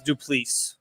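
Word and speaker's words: Du Plessis: Am I pronouncing that correct? It's Duplessis.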